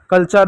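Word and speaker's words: culture: उसी प्रकार आपका यहाँ एक और शब्द हो जा रहा है कल्चर, देखो यहाँ पर भी यू साइलेंट है, लेक्चर यहाँ पर भी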